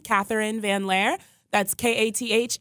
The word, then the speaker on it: Katherine Van Lare: youtube channel you can just search my name catherine van lair that's ka th e RI and e VA